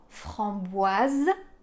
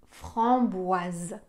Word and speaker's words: framboise: avoir le son ce dans le mot qu'on a vu avant framboise on avait aussi le S entre deux voyelles mais comme on en a un seul on va avoir le son Z chausson framboise chausson au